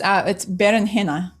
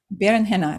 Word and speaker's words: berenjena: No, it's berenjena. It's like B-E-R. Berenjena. It's B-E-R-E-N-J-E-N-A. That's how you pronounce it.